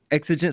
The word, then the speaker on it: exigent: is mobile it's i i don't want to mispronounce it but it's uh exigent circumstances did i say that right blue exigent circumstances yes okay so i got it right